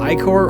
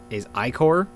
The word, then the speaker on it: Ichor: Ichor or Ichor are both very valid ways of pronouncing the word. I believe technically the but the old original way of pronouncing it is Ichor. But I just say Ichor because it's easier to say.